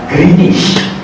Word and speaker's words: Greenwich: Ejaan Greenwich, sebutan Greenwich.